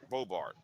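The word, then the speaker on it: Boebert: And then the other thing is, I think that Marjorie Taylor Greene and what's that, Baybart? How do you say her name? Yeah. Bobart.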